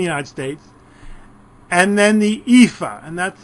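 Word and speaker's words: EAFE: everybody including the United States and then the epha and that's how it's pronounced Europe Australia and the Far East and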